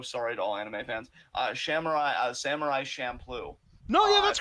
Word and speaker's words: Samurai Champloo: I'm probably mispronouncing this, and I am so sorry to all anime fans. Samurai Champloo.